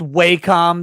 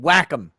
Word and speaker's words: Wacom: that'd be a degree it's not pronounced wacom that's stupid whack em yeah it ought to